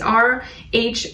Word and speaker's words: rhodochrosite: It's rhodochrosite, rhodochrosite.